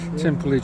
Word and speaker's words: Timperley: um heads towards timperley they pronounce it templey junction and that picks up